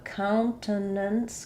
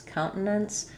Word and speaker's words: countenance: We'll um leave that t as an unreleased t.